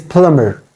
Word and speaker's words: plumber: not plumber it is plumber plumber B is also silent here you don't have to